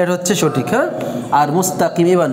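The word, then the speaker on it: مستقيم: নাস ইহদি নাস সিরাতাল মুস্তাকিম। মোস না, অনেকে মোস পড়ে, ওকার নাই, আরবিতে কোনো ওকার নাই, কেমন কি আছে রস্যকার, মুস্তাকিম মুস্তাকিম ইহদিনাস সিরাতাল মুস্তাকিম মুস্তাকিম।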